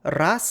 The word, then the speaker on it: raz: For example, ras in the nominative singular has the letter z pronounced as a voiceless sound, but in the genitive singular it's pronounced voiced, as in raza.